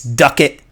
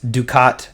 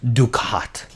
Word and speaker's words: ducat: um some people are saying you know it's duck it i'm saying it's ducat in one of my other videos when i first revealed it i did say duck it but um it's pronounced ducat so everybody say it with me ducat anyway